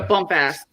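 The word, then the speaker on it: Bumpass: It's pronounced Bumpus.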